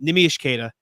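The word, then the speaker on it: Neemias Queta: as far as the front Court depth um nimish kada is how you pronounce it or neimi neim is easy NE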